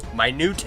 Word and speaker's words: minute: Minute and minute. Very, what do you call it? Sneaky. It's a sneaky word.